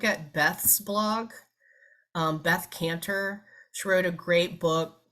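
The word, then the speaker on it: Kanter: social media um yes caner and I think it may be with a K not a c but pronounced the same way um k a n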